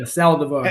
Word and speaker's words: Saldivar: Yeah, Saldivar.